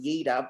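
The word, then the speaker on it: Jeder: anyone who doesn't know it's pronounced yida but people say jetta it's whatever whatever you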